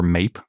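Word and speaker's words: Maip: is called mipe or mape I think mipe is slightly more accurate of a pronunciation that looks a little bit more like mape because it's spelled m AIP P being a megaraptor unsurprisingly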